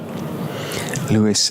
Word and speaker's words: Louis: to uh louis kimber lewis and louis l-e-w-i-s-l-o actually i'm asking for it wasn't it l-o-u-i-s but we don't pronounce the s it's going to be